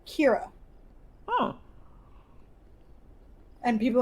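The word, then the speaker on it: Ceara: CEA RA oh yeah and it's and it's pronounced Kiro oh and people like Sierra no your uh Sarah no well and that's the thing is that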